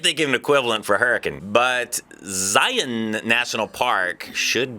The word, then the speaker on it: Hurricane: And it's located near the town of Hurricane, Utah. Not Hurricane, Utah. Hurricane.